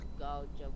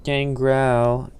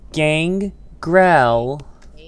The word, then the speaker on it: Gangrel: AEW still paid Garjo for the cancel. Gangrel. It's not Gar. It's like you're trying to say Gargamel. Sorry, it's hard to say his name. It's not. Gangrel.